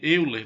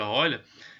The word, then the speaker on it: Euler: Você está vendo aí Euler, mas se pronuncia Euler, ela é dada por faces mais vértices igual a aresta mais 2.